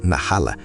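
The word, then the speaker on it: נחלה: O termo hebraico herança na rala, que se pronuncia na rala na Bíblia não se refere apenas a bênçãos materiais, é muito mais profundo.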